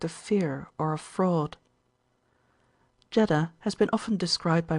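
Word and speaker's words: Jeddah: supposed by the Persians jeda or jeda is the vulgar pronunciation and not a few of the Learned call it Jada the grandmother in illusion to the legend of Eve's tomb and footnote bergart in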